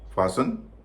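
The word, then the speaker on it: fasten: नहीं हो रहा है फसन कसक बांधना इसमें भी टी का उचर नहीं हो रहा है हैसन जल्दी करना टीका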